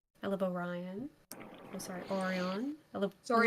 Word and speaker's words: Orion: it's pronounced Orion. We know it's incorrect pronunciation. Mm. It's funny. Fun fact! Going back to the fun facts about characters that aren't really relevant to the story at all. Erebus's name is pronounced properly, spelt wrong on purpose.